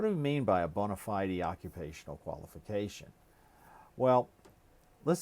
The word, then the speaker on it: bona fide: say college education is that it is a bona fide qualification that's what it's referred to must be